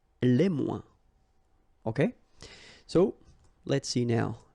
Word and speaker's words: les moins: Okay, so le moins, remember when we combine this O-E-N together, we get the sound ouin, ouin, ouin, okay, and we don't pronounce this final S. Le moins, la moins, les moins.